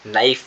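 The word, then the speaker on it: knife: के साइलेंट होता है नाइफ में भी आपका के साइलेंट होता है और इंग्लिश में ऐसे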